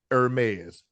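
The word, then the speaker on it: Hermès: That's how it's pronounced. Hermes.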